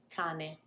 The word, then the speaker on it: cane: So can you perceive, can you hear how I'm not lingering on the one with one N? Cane. Of course, I'm pronouncing the N, but not really staying there. Canne. I'm really lingering on that N and expanding and extending that sound.